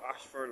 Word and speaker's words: Ayshford: Looking down Ashford Long Road. And again, this Ashford is spelled A-Y-S-H-F-O-R-D.